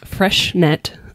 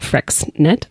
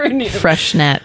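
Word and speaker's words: Freixenet: So this one has fresh net sparkling wine, champagne. I always thought that was pronounced like Frexnet. I could never pronounce it, but Freshnet.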